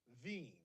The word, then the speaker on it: Wien: the name of places Vienna is actually w-i-e-n pronounced veeam sorry then they have